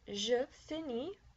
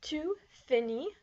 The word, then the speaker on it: finis: So I finish is je finis. You informal finish, tu finis. Notice that the S is not pronounced.